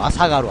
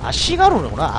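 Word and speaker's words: 足軽: 아시가루, 아사가루, 아시가루, 아시가루예요? 아시가루구나. 아사가루. 발음이 좀 이상하군요.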